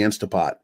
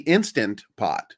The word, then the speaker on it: Instant Pot: I call it Instapot, but it's actually Instant Pot. Instant Pot. But when you say fast, you just lose the sound.